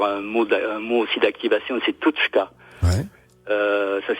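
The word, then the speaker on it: Tûtchka: mot aussi d'activation, c'est Tutchka. Ça s'écrit T-U-T. T-U-T. C-H. C-H-K-A. D'accord. Tutchka. Le U avec un accent circonflexe qui se prononce OU.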